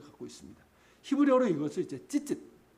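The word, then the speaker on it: ציצית: 히브리어로 이것을 이제 찌짓 혹은 치짓, 발음이 이게 애매해요. 치와 찌의 중간쯤 돼요. 찌짓.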